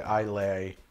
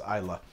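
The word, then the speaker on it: Islay: flavor that love that isla thing is it isla or isla i think in the us it's okay to say i lay but in fact it is isla there's a whole school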